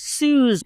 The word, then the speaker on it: Suze: you don't know who Susie Orman is, this character is great, and she nails it. So love it. I believe that her name is actually pronounced Suze.